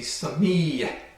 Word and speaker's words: sami: So if this would be pronounced or spoken as a Sufi mantra, it would be sami, and this little yeh in the end is the ayin.